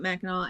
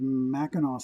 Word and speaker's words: Mackinac: little more consistent but basically there's no difference between that W or the C you pronounced the same way it all came from